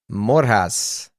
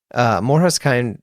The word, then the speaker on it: MORJAS: The pod this week, MORJAS. I think I said it right. I did find out you can pronounce the name any way you want. You can say MORJAS, MORJAS, whatever. Each their own.